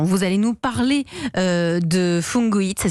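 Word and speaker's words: Fungu'it: et ben justement vous allez nous parler de fungoids ça s'écrit fun g u apostrophe it c'est parti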